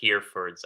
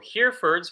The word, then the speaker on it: Herefords: The Herefords, I believe that is how we say it. So Herefords right here, Herefords, Herefords, Herefords, we'll say.